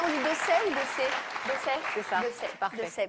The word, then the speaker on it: Dessay: Est-ce que je le prononce bien? On dit Dessay ou Dessay? Dessay.